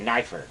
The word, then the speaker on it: Neifert: Neifert. Okay. Knifer. Knife. Like a Like knife. a knife. Okay. Like a knife and a fur.